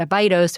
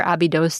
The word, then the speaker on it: Abydos: We worked six days a week and you know, in the middle of nowhere at at Abydos or Abydos depending on your pronunciation where you are in the world.